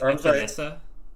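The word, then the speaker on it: Epenesa: I think it's Epinesa. Epinesa. He's got so much power that there was a second S in there at one point. But then they took it away because that's not how you pronounce it in Iowa.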